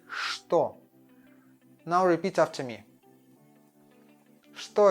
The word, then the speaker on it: что: And we don't say что, we say что.